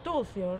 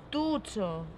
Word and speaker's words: Tucho: Tucio se escribe. Tucio, non, ó, Tucho.